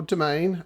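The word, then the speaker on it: Demesne: Ambience of this site downhill domain as it's pronounced I will never understand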